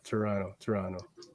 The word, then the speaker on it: Toronto: it's a silent T at the end there. It's a Toronto. Toronto. Fel, right? Would you agree? Yeah, no one really says the T.